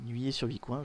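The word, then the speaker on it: Nuillé-sur-Vicoin: question c'est nuit et alors comment ça se prononce nuillé sur vicoin voilà nuillé sur vicoin je vais mettre un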